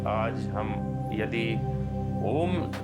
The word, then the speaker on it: ओम: आराम से हो और शुरुआत आ से हो ओम उ से नहीं होता आ उ ऐसे इसका उच्चारण होता है तो हम इसको कर